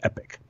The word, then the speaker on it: epoch: tried to use the word ep och it's pronounced epic because your note it's the most epic unit